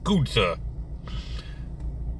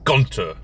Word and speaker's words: Gunther: Every time I see that name, I want to pronounce it Gunther. I'm pretty sure it's supposed to be Gunter, but that doesn't sound right. At least not when I say it.